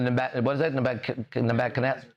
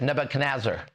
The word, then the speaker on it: Nebuchadnezzar: Right now, we're broadcasting from the Nebuchadnezzar.